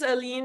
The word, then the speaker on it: A Lien: my opening oh well it's a very much like a play on word it is it is yeah yeah it is alen it is like alien like it's a they're